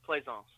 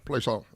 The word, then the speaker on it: Plaisance: So it's pronounced Plaisance. So it's French, Plaisance.